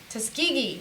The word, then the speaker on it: Tuskegee: Tuskegee, that's how you say it.